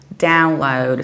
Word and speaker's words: download: we say download download so we stress the very first syllable download sometimes although very early it can happen that some brush people also say download but that would be rather American inspired pronunciation traditionally and the British accent we say download and the American one